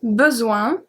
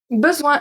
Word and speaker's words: besoin: Zoin, the S make a Z sound, and O-I-N make the sound ouin, ouin, ouin.